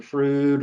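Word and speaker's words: Froude: Just in general, we talked about the Frood or the Froud number, depending on how people pronunciate it.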